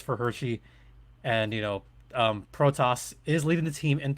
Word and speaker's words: Protas: Alexei Protas is actually how you pronounce his name.